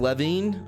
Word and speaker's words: Levin: that guy right also martin levine ability that's how it's pronounced levin that guy's killing it